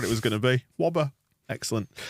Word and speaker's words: Wöber: lots of different ways this guy did it in a way that I prefer we've got and wobber yeah let's Center our and robbers that's the episode there's the episode title yeah I'm gonna go with Whopper from now on I think that's what it would be pronounced like in Yorkshire isn't it we don't do it